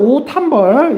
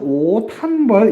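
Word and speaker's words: 옷 한 벌: 자, 그럼 오탄벌. 여기서는 음절의 끝소리 규칙 때문에 오 밑에 디귿 한 벌이 되겠죠? 자, 그 다음에는요, 이것이 디귿과 히읗이 만나면서 티읕으로 추가되는 현상이 있습니다. 그래서 여러분들 오탄벌 이렇게 최종 발음 써주시면 되겠습니다.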